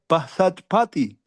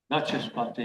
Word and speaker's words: Vachaspati: და მან ახსენა თავის საუბარში, რომ ერთ-ერთი ერთგული, რომელიც მათუსუდანა I find it difficult to pronounce. Mathusudana, what kind of name, Maharaj? Is that okay? Mathusudana Bhasaspati. Vachaspati, yes.